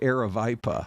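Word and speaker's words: Aravaipa: She's like uh it's uh the canyon is pronounced Aravipa.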